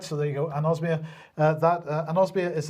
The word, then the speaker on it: anosmia: new fever or uh anomia uh if that's how you pronounce it anosmia sorry I do apologize right so there you go anosmia uh that an osia